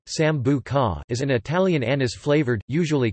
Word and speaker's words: Sambuca: Sambuca, Italian pronunciation, Sambuca, is an Italian anise-flavored, usually colorless, liqueur.